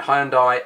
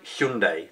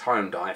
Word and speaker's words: Hyundai: the comments Hyundai Hyundai there's a big TV campaign at the moment um sort of politely making fun of those that can't pronounce Hyundai correctly and telling us that that's how you're supposed to say things I've been saying it's home die for 20 odd years and whilst that's almost certainly wrong it's a bit peculiar